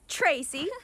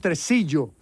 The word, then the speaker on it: Tresillo: not so fast, Tracy. We're taking him. It's pronounced Tresillo.